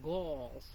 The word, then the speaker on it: galls: These are called galls. So they rhyme with the word ball.